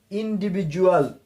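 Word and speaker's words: individual: শুধুমাত্র ডি এর পূর্বে এবং পরে যদি দুইটা ভাওয়েল পাওয়া যায়, এর উচ্চারণ হবে জ।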